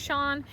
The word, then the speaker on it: Chawn: Her name is Chawn. It's spelled C-H-A-W-N.